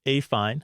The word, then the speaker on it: affine: know it is pronounced a fine as in a fine day I used to mess